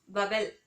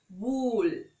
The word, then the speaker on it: vowel: Normally இதை நம்ம தப்பா வவல் அப்படின்னு சொல்லுவோம். வவல் அப்படிங்கிறது தப்பு. இன்ஸ்டெட் வூல், நம்ம விண்டர்ல வேர் பண்ற வூலன் க்ளோத்ஸ் இருக்குல்ல அந்த மாதிரி வூல். ஸோ வூல் அப்படின்னு ப்ரொனவுன்ஸ் பண்ணும். பாக்கி இருக்கிற 21 நம்ம கான்சனன்ட்ஸ் அப்படின்னு சொல்லுவோம்.